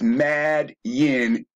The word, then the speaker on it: Midian: So again, the name Midian, pronounced as Madian, is Romanized, which should tell anybody fucking watching that the Talmud is a Roman book.